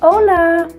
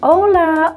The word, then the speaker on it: hola: So los saludos, hola, hola. In Spanish that H is silent, so hola, hola, buenos días, buenos días, buenos días, buenas tardes, buenas tardes, buenas noches, buenas noches.